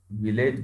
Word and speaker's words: village: अब technical criterion के according आप VILLAGE इसका उच्चारण देख सकते हो। जीआरपी में इसको अक्सर विलेज बोला जाता है, लेकिन एक्चुअल प्रोनाउंसिएशन क्या है, विलेज।